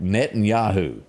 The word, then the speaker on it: Netanyahu: Netanyahu.